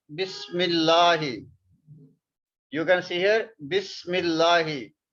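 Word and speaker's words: بسم الله: You can see here Bismillahi. So this meme we will pronounce with this lam. And this Hamza we don't pronounce.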